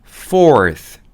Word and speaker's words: fourth: th 발음 어떻게 하죠? 2와 2 사이에 혀를 넣고 하고 불어줍니다. 그래서 fourth 하면 네 번째의라는 뜻으로 쓰이게 되는 거예요.